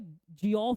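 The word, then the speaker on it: Geoff: देखो इसको जो है जियोफ भी पढ़ते हैं लोग, इसको जेफ भी पढ़ते हैं, बट एग्जैक्ट प्रोनाउंसिएशन इसकी जेफ होती है।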